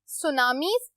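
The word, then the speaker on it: tsunami: Earthquake, volcanoes, hurricanes, सुनामीज, टी is silent so हम इसको सुनामी पढ़ेंगे, फ्लड्स, टॉर्नेडो, लैंडस्लाइड।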